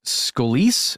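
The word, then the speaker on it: Scolese: guy the nro director Chris scolis I think is how you would say his name uh I'm going to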